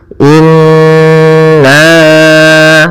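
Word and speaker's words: إنّ: Cara membacanya kita tahan dulu suara n-nya 2 harakat. Inna, baru kita panjangkan nanya dengan harakat ini.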